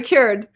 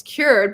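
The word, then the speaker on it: Kyoord: olive oil by ke keord i think it's keord oh cured very cured that's how you say it it's right here i'm sorry you guys so it's cured but with a k-y-o-o-r-d so it's an amazing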